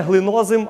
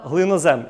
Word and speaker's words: глинозем: Не глинозим, а глинозем.